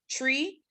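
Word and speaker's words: three: You got your numbers, how you say the number 1 is 1, how you say 2, 2, how you say 3, 3 is pronounced tree, how you say 4, 4, how you say 5, 5.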